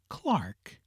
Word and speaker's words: clerk: To this class belong clerk, cucumber, and gold, which are often pronounced as spelled, though it were better and more in conformity with polite usage to say Clark, cowumber, not cowcumber, and gould lutinant lieutenant.